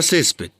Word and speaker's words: césped: La mayor fuerza de voz está acá, en la penúltima sílaba. Pero como no termina ni en N, ni en S, en vocal está terminando en D, automáticamente lo tildo.